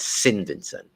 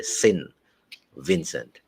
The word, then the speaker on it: Saint Vincent: Some people now call it Sin Vincent, which is sin, as in S-I-N.